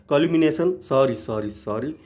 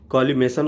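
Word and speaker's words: collimation: पीछे हमने line of कोलिमिनेशन कॉलिमेशन होगा, मैं बार बार प्रोनाउंसिएशन कर रहा हूँ कॉलिमिनेशन जो कि सही नहीं है। Right pronunciation is कॉलिमेशन।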